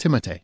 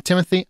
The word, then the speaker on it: Timothée: It's actually pronounced Timothée. Did you know that? Because he's French. But some people want to call him Timothy.